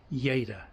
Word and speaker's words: Lleida: name of the town yada it's double l so it's a y yada anyway yada toqua um